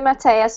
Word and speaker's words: Mateus: Mateus? Is that how it's pronounced? Yes, it's okay. Nice to meet you, teacher. Nice to meet you too, Mateus.